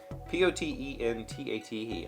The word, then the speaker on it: potentate: an iron fist apotenate p-o-t-e-n-t-a-t-e that's how that pronunciation key says to say that potentate but that doesn't potentate